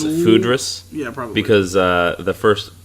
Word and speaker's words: foudres: The aging vessel was Oak Foudres, which we've now decided that's the commonly accepted pronunciation.